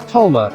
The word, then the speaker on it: Dolma: Dolma, pronounced Tolma in Armenia, dolma is another dish you may recognize and think you know.